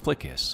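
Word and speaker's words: FLCS: The flight control system, pronounced FLICUS, a power test switch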